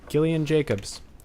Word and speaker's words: Gillian Jacobs: moving on yep moving on love with I've just recently learned how to say her name properly Gillian Jacobs yes yes ah so weird did you like